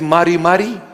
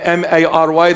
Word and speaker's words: Mari: His name is Mari Mari. They spelled my name M-A-R-Y. They made me Mary.